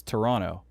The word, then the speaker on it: Toronto: when they say it they don't pronounce the last t it's toronto okay if you hear